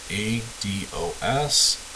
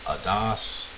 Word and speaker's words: ADOS: The gold standard for assessments for ASD is an assessment tool called the ADOS. I've heard this pronounced ADOS. I've heard it pronounced ADOS. ADOS is what I'm going to say.